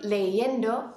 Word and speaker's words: leyendo: All right, I hope you said estoy leyendo for that last one, which is the correct pronunciation. But if we spell it like the rules tell us to spell it, take off the ER and add I-E-N-D-O, it looks kind of funny, and it's hard to pronounce with all three vowels in a row. So instead, in the correct spelling, that I changes to a Y, And you'll need to